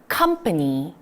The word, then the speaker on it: company: 자, 요거 콤파니 하면 너무 촌스럽게 들리잖아요. 제대로 읽어보도록 할게요. 오가 어로 발음이 된다라는 걸 익히시면서요. 발음으로 갈게요. company.